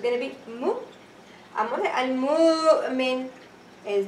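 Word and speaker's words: المؤمن: you pronounce the Hamza with the haraka on the Hamza. Example. If I say the word Al-Mu, me. Okay? So, Al-Mu'min. Okay? Al-Mu'min. Al-Mu'min. How many syllables? 3 syllables.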